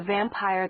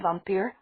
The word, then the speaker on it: vampir: You thought that there was only one vampir? Her mother got out. She pronounced the word the Hispanic way, which Meredith always found more scary.